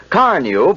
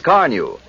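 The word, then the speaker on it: Carnu: Because Carneu both cleans and polishes with one application, two jobs at once in quick time. You've probably heard people say, "Your car looks like new when you use Carneu."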